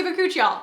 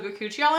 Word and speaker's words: bakuchiol: This actually has bakuchiol in it, which there are several ways that people have opinions on how to pronounce that. I say bakuchiol, makes sense.